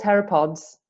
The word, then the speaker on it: pteropods: species of planktonic snail they're called terap pods spelled with a silent p and they live